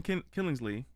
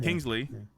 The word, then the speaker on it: Kingsley: though I do love Ben killings Lee if I say his name right Kingsley Kingsley I had an extra syllable like athlete Krishna bhajan I just